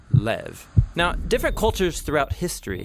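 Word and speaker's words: לב: this prayer heart which in hebrew is sometimes pronounced lev or more often in a shorter form lev now different cultures throughout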